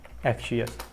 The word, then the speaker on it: Axios: यहाँ पे आपने npm लिखना, NPMI और Axios। ये आपके पास प्लगइन है। इसको कुछ Axios भी बोलते हैं, Axios भी बोलते हैं, जो भी आप बोलो, लेकिन स्पेलिंग आपने इसकी इसी तरह से लिखने हैं, AXIOS।